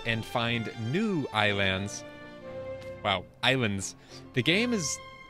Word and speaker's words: Ylands: Islands the game is you might be asking why I say Islands when it's spelled wylands the developers I'm pretty sure aren't American and so wherever they're from it makes more sense uh it's supposed to be like you know like iPad it's like my Island make